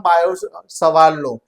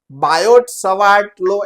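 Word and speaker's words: Biot–Savart: तो उसको ही हम बायो सवार लो देखो यहां पर दोनों में टी साइलेंट रहता है बायोट सवा लो ऐसा नहीं बोलना है ओके तो बायोसवार लो प्रोनाउंस सवार सावर जो भी बोलो को चलेगा।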